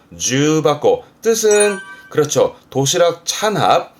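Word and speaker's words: 重箱: 그럼 겹쳐있는 상자 뜻인데 발음이 주바코.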